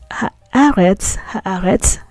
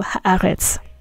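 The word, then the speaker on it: הָאָרֶץ: And if we say ha'aretz, that means the land. So eretz means land, but when there's a ha attached to it, we pronounce it as aretz. So ha'aretz. Okay. Now ha'aretz in Hebrew is specifically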